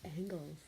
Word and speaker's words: angles: It's actually pronounced angles.